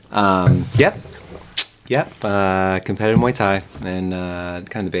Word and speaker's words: Muay Thai: years yes yes um yep yep uh competitive mu Tha in uh kind of the Bay Area and